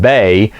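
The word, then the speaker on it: Bey: Now Bay, B-E-Y, is how you pronounce his, spell his name.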